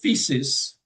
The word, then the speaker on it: physis: In Greek antiquity, they talk the physis. That's how they pronounce it.